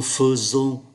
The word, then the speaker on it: faisons: Đây là một động từ rất đặc biệt bởi vì chúng ta thấy là ngôi thứ nhất số nhiều viết là ai mà đọc là e, và ngôi thứ hai